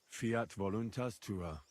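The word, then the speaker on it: Fiat voluntas: You're saying it wrong. Listen. It goes like this. Fiat voluntara.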